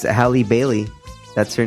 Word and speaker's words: Halle Bailey: Bailey is the new Little Mermaid you were mispronouncing Halle Berry no it's a Halle Bailey that's her name Holly she's in like some